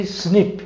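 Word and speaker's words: SNP: estudar essas mutações são chamadas de snip fala snip single nucleotide polymer snip pronuncia snip para ser caracterizada como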